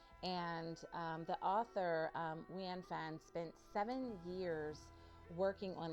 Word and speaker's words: Nguyễn Phan: Wanfan, there it is.